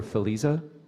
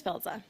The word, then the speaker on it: Filza: mental health thank you please forgive me if I mispronounce filza or feliza please proceed with your comment good morning regions my name is filza I'm the legislative co-chair